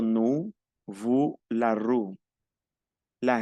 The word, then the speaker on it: nous: La O y la U es U, digo nous, vous, la rue.